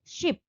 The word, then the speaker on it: scip: आज modern English में जिसको हम शिप पढ़ते हैं SHIP शिप, ओल्ड इंग्लिश में यहाँ पर SH की जगह SC का यूज होता था, तो SCIP शिप, इसको भी शिप ही बोलेंगे.